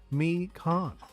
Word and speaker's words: Mikan: By the way, the pronounce her name is Mikan. Mikan? Okay. It's Mikan, okay. Really? It's Mikan? I mean, I believe you. It just seems weird with the way it's spelled.